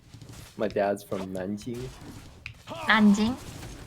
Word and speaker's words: Nanjing: Jiangsu province, so that's like my dad's from Nanjing, Nanjing. Nanking, Nanjing, however English pronounces it.